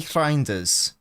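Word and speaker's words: Reijnders: You got to roll your R at the start.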